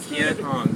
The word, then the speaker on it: Kien Hoang: Kien Hoang. Did I say it right? Kien Hoang, yes.